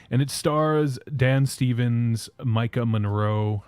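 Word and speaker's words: Maika: it stars Dan Stevens Micah Monroe I think I pronoun pronounced that right does anyone know if that's right I don't know m a i k a m m m that's Micah okay it's not it's not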